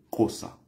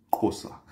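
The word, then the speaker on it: Xhosa: J'ai d'ailleurs une amie sud-africaine qui m'apprenait récemment comment ils prononcent chez eux la langue comme ça, du côté droit comme ça, entre les dents. On dit Kossa. Kossa.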